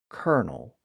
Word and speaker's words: Colonel: thing and that gave us the modern word kernal still spelled the Italian way with its original